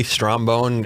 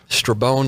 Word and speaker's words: Strabone: Strabone is common too. Strabone, Strombone. It gets mutilated quite a bit. So let's just set the record straight. It's Strabone Law? Strabone Law.